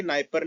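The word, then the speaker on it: Dnieper: यहाँ पे आपको एक नदी दिख रही होगी, नाइपर नदी। नाइपर नदी में डी साइलेंट होता है इसलिए नाइपर नहीं नाइपर कहते हैं।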